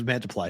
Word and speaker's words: Mantiply: Get to the most meaningful baseball games of the year, and you got Sanchez pitching against Mantiply, which looks like Multiply. That's what I said. It's Mantiply.